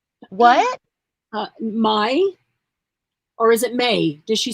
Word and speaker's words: Mai: Mai and Karen. What? Mai? Or is it May? Does she say it May or does she say it Mai?